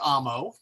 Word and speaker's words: amo: that so for example the word Amo which means I love is pronounced Amo even though the O the O is long but we don't accent it so it's am Mo not Amo actually I'm not even